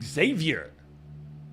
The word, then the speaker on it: Xavier: 11 he's in Lawrence to cover the game Xavier big time win I was waiting for you